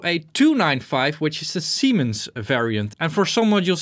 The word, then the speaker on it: Siemens: It's actually German, so you have to pronounce it in German. So that would be Siemens Citrol.